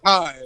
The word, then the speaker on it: thyme: Sorry that I was pronouncing it how it sounds. How it looks? How it looks. Sorry. It sounds like time.